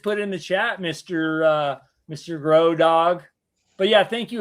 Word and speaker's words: Grohe: And it's pronounced Grohe.